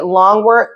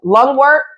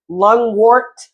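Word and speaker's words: lungwort: and I was say long workart was I saying it right lung wart lung wart okay that flower is one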